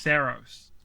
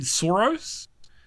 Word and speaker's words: Saros: I think it's pronounced Saros. I keep saying Saros, and I once said Soros, and it was not that pronunciation.